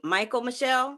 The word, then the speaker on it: Michael Michelle: y'all always feature, is her name, how you pronounce it? Is it Michael Michelle?